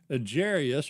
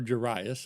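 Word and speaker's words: Jairus: One of the synagogue officials named Jarius or Jeras, again take your pick on pronunciation, uh, Jarius came up,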